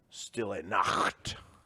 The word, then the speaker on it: Stille Nacht: It's pronounced Stille Nacht.